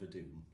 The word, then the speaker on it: Vodun: So this is a band called Vodoon. It's spelled Vodun, and they've got an album called Possessed.